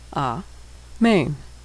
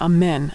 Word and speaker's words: amen: A-main, amen. But Israelis would pronounce that amen as we do in English.